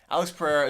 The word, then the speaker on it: Pereira: over commentate that time you can roll your RS you can say the RS you just can't use an H there you go but um Alex Pereira is one of the